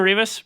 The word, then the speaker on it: Rivas: I'm Rivas, rhymes with Beavis.